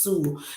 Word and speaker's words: Sioux: at the name of it there, but it's pronounced Sioux. Sioux Falls School District.